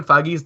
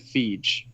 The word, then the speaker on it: Feige: Is it pronounced Feige or is it Feige? It's Or- Feige. It's Feige. It really is, okay.